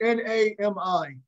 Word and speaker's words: NAMI: I hear the pronunciation. It's NAMI.